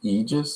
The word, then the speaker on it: Aegis: and this is the aegis force that you were talking about before yeah and it's pronounced aegis so the a is silent and i was trying